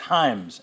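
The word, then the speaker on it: Hyams: Hey people, it's hims. Hi, Ms. is kind of the the pronunciation. It rhymes with rhymes.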